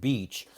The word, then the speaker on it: beach: Peach and beach have a very similar pronunciation.